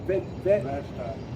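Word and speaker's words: Vashti: Bashti.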